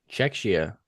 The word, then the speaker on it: Czechia: Uh so far Czechia, I don't even know how to pronounce that. I um and Great Britain are the first Czechoslovakia. No, it's Czech H. Czechia.